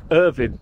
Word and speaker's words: Irvine: we're in where where's what's the scottish pronunciation of the name here irvin irvin there you go we know how to